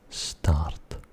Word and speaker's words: start: Start. We would say start. Start. Like a star in the sky, but with an abrupt ending.